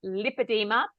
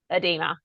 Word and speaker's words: lipedema: where everyone came together, it was decided that lipedema is the actual pronunciation. Not that you'll get in trouble if you say the wrong thing, but we're going to Yeah. try and remember that it's lipedema.